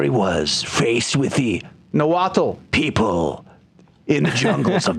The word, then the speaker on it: Nahuatl: But number two, I will have a difficult time properly pronouncing the Nahuatl words that are involved in this book. You mean Nahuatl? See? I haven't even started, and I've already messed it up.